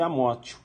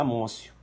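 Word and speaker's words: amotio: Mas tá escrito isso, escreve Amótio. Mas a pronúncia é Amócio.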